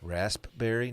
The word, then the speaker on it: raspberry: eyes on the p raspberry no one says that it's because that's not how it's pronounced it's a silent p is it though real